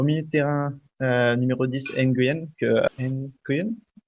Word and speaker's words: Nguyen: Au milieu de terrain, numéro 10, Nguyen, Nguyen? Lee Win Yeah. de... Lee Win. Ouais. Désolé, prononciation Non, différente.